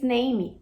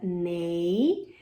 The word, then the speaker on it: name: name what's your name Tá errado esse é do final não é pronunciada é umas a galera olha a transcrição fonética se eu n me a gente tem um ditongo Ei então fica nem E aí o m que você já sabe que aqui então nem é assim que pronuncia nome em inglês nunca mais você